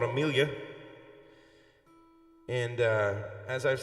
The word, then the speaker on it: Amelia: So, and it worked perfectly because I wanted a 4-syllable name with the emphasis on the second syllable. And so I changed it to Amelia.